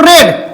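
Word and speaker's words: read: पढ़ना का दूसरा रूप रेड। देखिए स्पेलिंग रीड ही होता है, कि पढ़ाता रेड है यहां, है ना।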